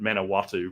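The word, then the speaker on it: Manawatū: to september um is and i'm going to pronounce it incorrectly but manawatu but hopefully peter will be able to correct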